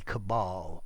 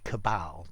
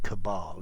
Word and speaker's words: cabal: form a cabal um one little pronunciation though i as an rp speaker would say cabal are that long a whereas you may find many other people say cabal but for me cabal if you want to